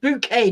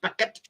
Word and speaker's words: Bouquet: yeah bouquet that's right it's pronounced bouquet not bucket yeah keeping up appearances